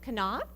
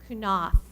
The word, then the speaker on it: Knopf: Is going to be Knopf. He's going to say the pledges. Did I do it wrong? Say it wrong. Knopf. I got my emphasis on the wrong syllable there. Knopf.